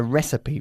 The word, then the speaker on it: recipe: hairs and recipe okay a recipe we don't say re nor ree it's recipe okay good let's have a